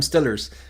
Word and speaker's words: Steelers: pit Pittsburgh I think it's supposed to be pronounced Steelers but I believe a real Pittsburghian would say Pittford's how are them how about them Stillers I think uh but they um I think